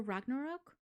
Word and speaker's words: Ragnarok: like in um Thor Ragnarok wait I'm saying it wrong Ragnar is it Rack or Rock Ragnarok it's Thor Ragnarok yes what he said um